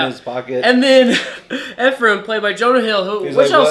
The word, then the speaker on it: Ephraim: Okay, so he's going, his friend Ephraim. Is that how you pronounce it? Ephraim.